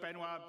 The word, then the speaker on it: Benoit: And without me waffling on, I'd like to bring CIG's CTO, Benoit.